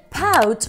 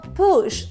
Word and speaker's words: pouch: El pouch o push, según lo pronuncies en inglés o en francés.